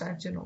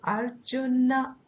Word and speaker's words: Arjuna: i think you pronounced arjuna watching correct okay and it's not arjun in hindi it's arjun in in sanskrit it is arjuna arjuna that na has an akara also with it so